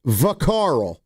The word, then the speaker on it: Vacarl: Let's go to Vacarl. Am I saying it right? Vacarl. Yeah, you are.